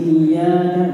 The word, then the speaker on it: إياك: Jadi kata beliau jangan ditambah-tambah. di sini iyyaka, di sini iyyaka na'budu wa iyyaka. Ya, jadi di sini pendek, di sini panjang.